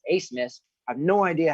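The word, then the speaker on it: Abmas: Max, and this is it looks like Ab miss, but it's actually pronounced. I was watching the game when they were on the slate last time. It's Ace Miss.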